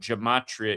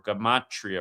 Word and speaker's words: Gematria: If you're new here, Gematria, you got to learn what Gematria is, or Gematria, pronounced both ways.